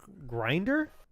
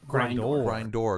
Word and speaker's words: Grindor: Grinder? It's spelled grind and then O-R. Grindor.